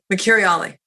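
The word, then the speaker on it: Mercuriale: Mercuriali. Excellent. I wrote it phonetically because I was like, no, I will never be able to say this.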